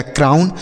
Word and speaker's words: crown: OW के बाद यन है तो इसका उच्चारण आउ होगा, N से न, यह लिखा गया क्राउन। CROWN क्राउन।